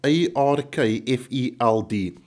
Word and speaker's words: Arkfeld: I probably am not, but it's spelled A-R-K-F-E-L-D, Arkfeld.